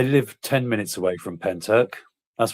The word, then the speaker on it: Pentyrch: I'm thinking that's pronounced Penny Rich.